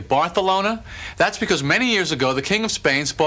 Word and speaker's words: Barcelona: Do you know the correct pronunciation of Barcelona is actually Bartholona?